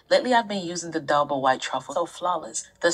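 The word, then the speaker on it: d'Alba: But yeah, y'all, I pronounced the name instead of saying Dalba, I said Dialba.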